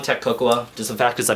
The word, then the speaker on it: Coco: So, and by the way, guys, it's pronounced Cocoa, not Coco.